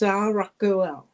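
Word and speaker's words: Saraqael: They're spelled a little different than they're pronounced, so I looked up the pronunciation because looking at it looks like Saragael. I believe it is pronounced Saragael.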